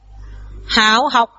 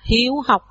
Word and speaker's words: hiếu học: Rồi hai chữ dưới theo, hảo học, hảo sanh hay là cái gì ạ? À, chữ này chúng ta sẽ đọc là hiếu học, hiếu sanh.